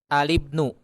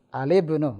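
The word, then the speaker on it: الابن: Nah, Alibnu. Al-ibnu, mumtaz. Itu dia. Bukan al-ibnu, tapi Alibnu. al-ibnu.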